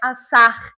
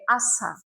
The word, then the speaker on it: עשה: Não é assar, é assá.